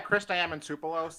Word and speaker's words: Chris Diamantopoulos: Yeah, Chris Diamantopoulos. Oh, Yeah, thank you for pronouncing it properly.